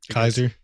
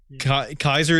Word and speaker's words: Caesar: we all you know i want to talk about the pronunciation of caesar kaiser yeah i just love saying kaiser i do too i i uh i call little caesar's little kaisers yeah it's just so fun to say but is is kaiser not inherently just like referring to like that's the german pronunciation right uh maybe yeah i